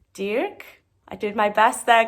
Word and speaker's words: Dirk: I went to a supermarket called Dirk, and in Dutch it's pronounced Dirk.